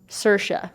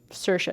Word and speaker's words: Saoirse: Saoirse is how you pronounce her name. Saoirse. It's like inertia. She did a whole SNL skit on it. That's how you pronounce it. Saoirse.